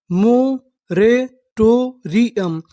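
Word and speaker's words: moratorium: टो आर आई री यू एम यू एम को हम लोग पढ़ते हैं अम अगर आपको आखिरी में यू एम लिखा मिले तो उसे क्या पढ़ना है? अम तो पूरी मीनिंग क्या बनी?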